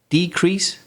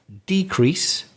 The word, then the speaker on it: decrease: decrease and increase so if they're nouns we again just like conduct stress the first syllable decrease and the opposite increase for example we've seen a decrease in covate infections or could be the opposite we've seen an increase in covet infections and then the verb shifts changes to the second syllable the stress so decrease